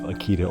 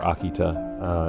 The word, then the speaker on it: Akita: of Our Lady of Akita or Akita as it pronounced in Japanese it's incredibly controversial apparition